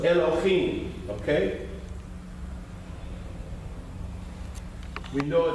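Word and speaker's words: אלהים: So olive, L, okay, E with the L. Okay, this is L, and that's what? The dot on top. O. El, lo, him. Okay? Because this, you're adding an O, so it's Elohim.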